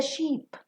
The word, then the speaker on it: sheep: in this example the Sheep plays loudly maintain the pronunciation between ship and sheep ship you've got a